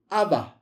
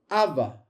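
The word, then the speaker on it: אבא: So, how do you pronounce that? Aba. Aba.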